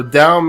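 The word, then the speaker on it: Tao: So, down Master Waka. And for those of you wondering, it is pronounced Dow with a D, not a T.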